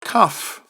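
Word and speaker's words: כּ: is okay so again with the dot cuff like a k without the dot okay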